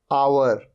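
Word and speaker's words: hour: आप देख रहे हैं तीनों वर्ड्स में ओ से पहले आ रहा है एच, ये है आवर। यहां पर एच साइलेंट होता है, आवर, आवर मतलब घंटा।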